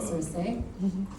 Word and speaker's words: Circe: As she just said, Circe. Finally pronouncing it correctly.